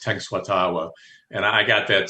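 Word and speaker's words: Tenskwatawa: Uh tenuatawa. Occasionally I' I've heard it pronounced ten tenatawa but it's tenuatawa.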